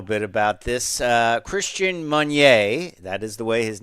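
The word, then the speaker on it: Meunier: talk a little bit about this uh Christian manier that is the way his name is pronounced he was named the chair of Nissan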